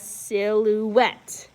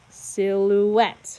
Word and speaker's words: silhouette: punch the word so for this number one we're punching it on the last syllable so we pronounce it as silhouette silhouette okay now number two